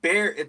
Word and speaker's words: Bexar: County cpdes it's uh it's actually Bear the x is silent it's uh Bear County the way we